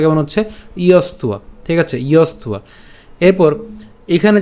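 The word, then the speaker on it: যস্ত্বা: তাহলে আমরা উচ্চারণের সুবিধার জন্য একটু যদি আমরা এভাবে লিখি ইয়স্ত, এরপর উয়া, ইয়স্তুয়া, আমরা একসাথে বলবো ইয়স্তুয়া, ঠিক আছে?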